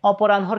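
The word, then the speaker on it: অপরাহ্ন: উচ্চারণটা পরে যাচ্ছে চিনহ একইভাবে অপরান হর ক্ষেত্রেও আমরা জানি হ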